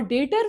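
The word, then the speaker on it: debtor: डे बी जो है ये साइलेंट होता है यहाँ पे, जिन्हें नहीं पता है उनके लिए।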